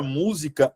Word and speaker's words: música: eu tô querendo dizer vou separar ó mu Z K o assento ele tá na anti penúltima sílaba essa sílaba é a sílaba tônica então aqui a palavra música ela é pro paroxítona ela não é paroxítona proparoxítona é a palavra que tem como sílaba tônica a anti penúltima paroxítona como eu mostrei